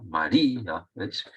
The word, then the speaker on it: María: débil y una fuerte según la teoría habría que se tendría que pronunciar el mismo golpe de voz sería un diptongo pero como la vocal débil es más fuerte que la otra María se rompe el diptongo y se acentúa por eso se acentúa